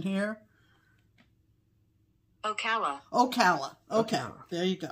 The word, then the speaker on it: Ocala: We're going to get a pronunciation here. Ocala.